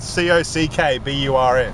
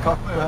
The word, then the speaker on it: Cockburn: It was seriously spelled C-O-C-K-B-U-R-N. Yeah, Cockburn. Yeah, Cockburn. They were all like Cockburn.